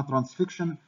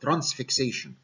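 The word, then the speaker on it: transfixion: فهعمل لها حاجه اسمها ترانسفيكشن واحيانا تنطق خطا ترانسفيكسيشن. هي الصح ترانسفيكشن، اعتبر ده الثايرويد اسمس.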